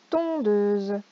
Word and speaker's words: tondeuse: Ton, deux, une tondeuse. Pareil, regardez le S entouré de voyelles qui va se prononcer Z.